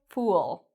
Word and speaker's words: fool: We have here a word fool. It has the same vowel sound as tool, tool, fool. So this has the circular lips and the long vowel sound, fool. Now this is very different from the word full. Full has the spread lips, full, and it's a short, quick sound, full.